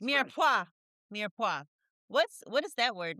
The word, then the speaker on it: Mirepoix: Let's talk about your podcast, Mirepoix. Mirepoix. Did I say it right? Mirepoix. It's French. Mirepoix.